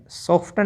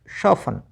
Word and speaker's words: soften: तो HSTEN Hesson, LISTEN Liston नहीं लिशन, OFTEN ऑफ्टन नहीं ऑफन, SOFTEN सॉफ्टन नहीं शॉफन, FASTEN फासन फास्टर नहीं। पता चल गया आपको, TEN में टी साइलेंट रखना है, ठीक है।